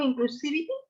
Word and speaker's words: inclusivity: Teacher, pronunciation, inclusivity.